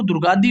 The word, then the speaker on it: दुर्गाड़ी: मैंने बोला था कि आप इसको इंग्लिश का जो नाम है अंग्रेजी में इसका प्रोनाउंसिएशन ना करके इसको दुर्गादी बोले, तो दुर्गादी से आपको